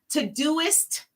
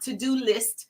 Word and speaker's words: Todoist: Todoist is not to-do list. It's Todoist, just like it's spelled.